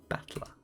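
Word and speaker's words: 戦人: The problem is my given name that is made up of the characters for the fight and person and is pronounced battler.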